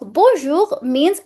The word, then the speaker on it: bonjour: you know just say it's not bon it's b nasal sound that's the correct pronunciation means hello or good